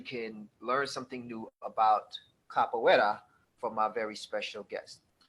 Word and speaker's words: capoeira: Capoeira, and pronounced capoeira.